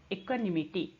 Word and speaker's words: equanimity: इक्वानिमिटी का spelling देखते हैं. EQUANIMITY. इक्वानिमिटी.